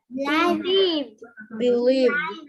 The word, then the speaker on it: believed: Believed. Believed. How do, it is like believed, or under which heading it's like t or d. Believed. D, that's right.